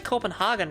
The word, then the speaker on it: Copenhagen: It's actually Copenhagen, right? In Denmark. The rest of the world pronounces it wrong.